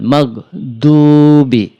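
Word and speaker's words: مغضوب: মালমা পেশ দু সরাসরি দু না বলে দু একটু ঠোটটা বাকা গোল করে বলব আমরা গনি গরলাম গরিল মিম গাইন জবর মাগরিল মাগ দশবি গরিল মাগদুবি আই জবর আলাম জবর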